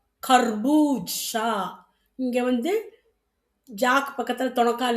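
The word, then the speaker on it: खरबूजा: கர்பூஜனா என்ன? பூசணிக்காய். மஞ்சள் பூசணிக்காவும் இருக்கலாம், வெள்ளையாவும் இருக்கலாம். அப்போ கர்பூஜா அப்டின்னனா பூசணிக்காய். அடுத்தது க. அந்த உச்சரிப்பு மாறுது பாருங்க.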